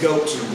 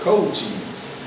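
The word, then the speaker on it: Cochise: cooked cold cheese it's goat cheese no it's cold here it is c-o-c-h-i-s so it's cold cheese yeah it's literally they said pronounce co like c-o-h and cheese he's jamaican like i'm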